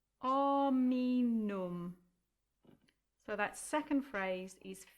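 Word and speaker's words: hominum: And then the next word, you're going to cross out the H because the H is silent, and it becomes ominum. Ominum.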